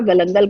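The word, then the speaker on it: galangal: तो ये मैंने इसमें 1 इंच का गलंगल का टुकड़ा, कई लोग गैलंगल कहते हैं, कई गलंगल कहते हैं, it's your way of pronunciation, it really doesn't matter.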